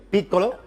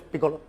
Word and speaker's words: Piccolo: La pronunciación italiana realmente es Piccolo, sí. Pero en Mula le decimos Piccolo.